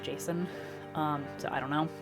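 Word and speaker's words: Jacen: solo you know like which i always pronounce this jaqen like j-a-c-e-n but um i've been told it's pronounced jason um so i don't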